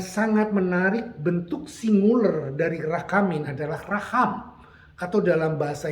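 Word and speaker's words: רחמים: Nah, saudara, dalam pengertian bahasa Ibrani, the word mercy in Hebrew adalah diucapkan dalam kata rachamin. Saya ulang, rachamin.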